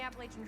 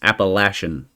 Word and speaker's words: Appalachian: we're not hiking the Appalachian Trail right always be prepared okay first off I want to address something it is not pronounced Appalachia it's Appalachian appalachin trails that irritates me so so